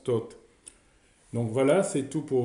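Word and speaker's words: Thot: squelette le déterminatif du dieu donc ça se prononce tout donc voilà c'est tout pour aujourd'hui la prochaine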